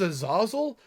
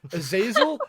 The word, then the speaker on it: Azazel: Tekken Tekken six was I thought it was a Zazzle and to find out the announcer pronounce it is Azazel but yeah some of the characters in Universe later on in other games call it Azazel yeah it's it's true